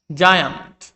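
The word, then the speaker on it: giant: জায়ান্ট, এখানে দেখো জি এর পরে আই রয়েছে, সেজন্য এটার উচ্চারণ হয়েছে জয়ের মতো।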